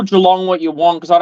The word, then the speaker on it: Geelong: Who's Gil? Geelong. Oh, Geelong. Oh, here we go with the Geelong.